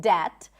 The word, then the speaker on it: debt: be like, oh, I didn't know that there is no B in debt.